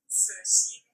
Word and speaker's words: Cixin: X sounds kind of like S-H, it's like a sh. And then C sounds like T-S. So for the author's given name, you get Cixin.